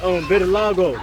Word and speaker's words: vitiligo: The 5-minute documentary you did with the people with Vitiligo. Oh, am I pronouncing it right? Vitiligo.